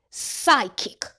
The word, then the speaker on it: psychic: P S says S. The P is silent. Psychic.